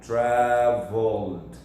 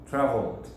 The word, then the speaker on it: traveled: O ED ali vai ficar traveled, você não vai falar assim, então vai ficar traveled. Traveled. Traveled. Percebe que virou um D.